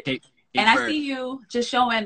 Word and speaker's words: Cape Verde: Cape Verde or Cape Verde? Cape Verde.